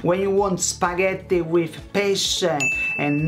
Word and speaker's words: pesce: When you want spaghetti with pesce and not with pesche.